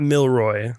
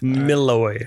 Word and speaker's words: Milloy: Not Milroy. Not Milroy. That's a whole nother podcast. Milloy. No R.